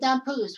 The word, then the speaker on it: Damphousse: I said it right, Vincent Damphousse, who used to play for the Toronto Maple Leafs.